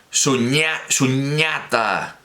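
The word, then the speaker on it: suññatā: algo me beneficia bastante Que es que en Bali en pali es Con la s digamos normal verdad Con la s española normal y y con dos años es su ñata su ñata con ese normal Así que vamos a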